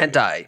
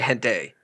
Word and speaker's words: hentai: Hentai. Yeah, I used to say hente. Hente. Okay, and those were wrong. It's hentai.